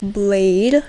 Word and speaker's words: Bladee: I have to admittedly say that I first called him Bladee. But then I educated myself and I was like, oh, it's actually pronounced Blade.